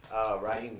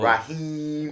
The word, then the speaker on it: Rahim: It's with H-I-M, not Eem with the 2 E's. My dog get drove and they spell him like one of the Arab cats. Oh. Rahim. Wow. You hear me? It's Rahim. It's spelled Rahim. Yeah.